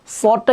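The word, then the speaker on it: ص: সদটা কিভাবে উচ্চারণ করব? সদ এভাবে খেয়াল করেন। সদ। আবার আমার সাথে বলেন। সদ এভাবে না। অনেকে এভাবে বলি। সদ দয়া জয়া আইন গাইন। এগুলা একদমই ভুল উচ্চারণ।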